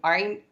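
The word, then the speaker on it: عين: போயிடுது அதனால நல்லா பாருங்க இது வந்து தொண்டையோட மத்திய பகுதியில வரும் இது ரொம்பவே மஷ்க பொதுவா ஹிப்ஸுக்கு போகக்கூடியவங்களும் சரி காரிய ஓதக்கூடியவங்களா இருந்தாலும் சரி இந்த ஐன் என்கிற எழுத்தை ரொம்பவே மஷ்க்கு செய்வாங்க காரணம் என்ன அப்படின்னா இந்த ஐன் அப்படிங்கிற எழுத்து வர்றது ரொம்ப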